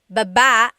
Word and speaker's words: baba: Then there's baba, Baba. Emphasis is on the second syllable.